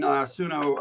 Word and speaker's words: Suno: I've been using it's spelled SUNO.